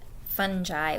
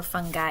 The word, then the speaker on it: fungi: gonna start talking about fungi or fungi you can pronounce it either way I love this quote